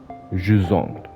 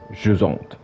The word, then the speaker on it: Jusant: 戏的单词怎么发音，Jusant，退潮的意思，Jusant。